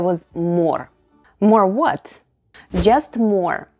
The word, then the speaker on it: мор: МОР /morr/, which is exactly how you pronounce the word for a collection of... dead bees. Say it with me: МОР /morr/.